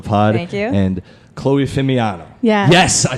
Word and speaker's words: Fimiano: And Chloe Fimiano.